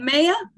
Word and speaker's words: Maya: Maya. And I keep saying your name wrong. Remind me, No worries. is it Maya? It's Maya.